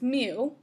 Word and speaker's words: mu: the parameters are mu that's a greek letter it's pronounced mu it's the mean and